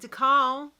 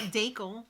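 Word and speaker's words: Dakal: Over at DeCal, is that how you say it? Yeah, I guess. It's not Dakel.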